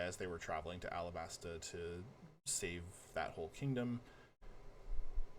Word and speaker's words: Alabasta: So Vivi is the princess of Alabaster. Alabaster? How do I pronounce that? There's no R at the end. It's just Alabasta.